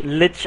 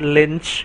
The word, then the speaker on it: Lich: Learn to pronounce lich and not lynch, please, before you decide.